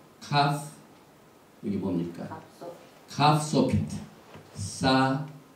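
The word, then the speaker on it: סכך: 사칵. 이 발음이 굉장히 힘들어요. 사칵. 이 목에서 나오는 가르침 받는 소리가 나와야 되는데 저는 잘 안 됩니다.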